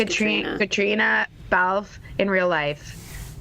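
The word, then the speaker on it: Caitríona: It's just pronounced Katrina.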